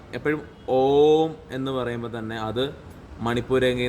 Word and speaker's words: ഓം: നമുക്ക് പ്രത്യേകിച്ചൊരു സാധന പദ്ധതികളും അറിയില്ലെങ്കിലും ഓം നമഃ ശിവായ അത് ജപിക്കുമ്പോൾ എപ്പോഴും അതിൻ്റെ ഉച്ചാരണം എപ്പോഴും ഓം എന്ന് പറയുമ്പോൾ തന്നെ അത് മണിപ്പൂരംഗയിൽ നിന്ന് തുടങ്ങണം.